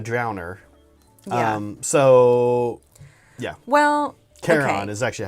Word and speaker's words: Charon: Well, Charon okay.